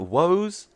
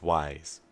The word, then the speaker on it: Wise: That's how we're pronouncing it, by the way. Like in case you saw the, how the fuck am I meant to pronounce that? Woes, says like. No, bro. It's Wise. That.